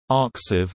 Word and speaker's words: arXiv: ArXiv, pronounced archive. The X represents the Greek letter chi, chi is a repository of electronic preprints known as e-prints approved for publication after moderation.